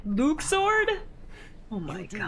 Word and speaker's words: Luxord: Luxord. That's it. That's how you say it, Luxord.